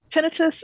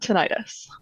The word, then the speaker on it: tinnitus: on the name itself tinitus and tenius are both correct pronunciations personally I pronounce it tenius because an itis as a suffix in the medical world is an inflammation and we know that's